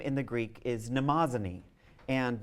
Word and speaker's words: Mnemosyne: of memory, whose name in the Greek is Mnemosyne. And Mnemosyne, whose name is spelled with some difficulty, is spelled on the lower part of your handout.